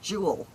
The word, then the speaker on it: Jewel: Oh, what's even worse is there's a a a store here called Jewel and for some reason they keep putting an S on the end and calling it jewels. It's like jewels.